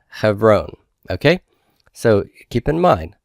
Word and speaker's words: Hebron: So hev, silent, ron, Hebron.